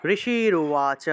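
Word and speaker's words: ঋষিরুবাচ: উবাচা এভাবে ঋষির উবাচা আসলে এটাকে সন্ধি করা হয়েছে আমরা সন্ধি বিচ্ছেদ করে শুদ্ধ করে উচ্চারণ করলাম ঋষির উবাচা অর্থাৎ ঋষি বললেন মার্কয়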